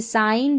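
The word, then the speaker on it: sign: यहाँ पर भी जो है जी, लेटर जी साइलेंट, इसको नहीं पढ़ेंगे। जैसे साइन, डिज़ाइन, असाइन, रिज़ाइन, यहाँ पर उच्चारण आप देख ले हिंदी में दे रखे हैं।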